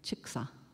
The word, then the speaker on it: Chickasaw: thought she was Cherokee, but were Choctaw and Chickasaw, or Chitta, which is the way we pronounce it, and Chicksa, who were brothers.